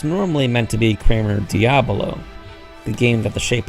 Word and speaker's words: Diabolo: It's interesting, though, to notice that the message Ota tells us about uses the common mispronunciation in Diavolo, meaning devil, whereas it's normally meant to be Kramer Diabolo, the game that the shape is named after.